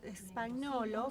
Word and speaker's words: Spagnolo: Spagnolo, for us in Mendoza, we pronounce it with a Spanish phonetics, and perhaps for people in Buenos Aires, they give the Italian pronunciation.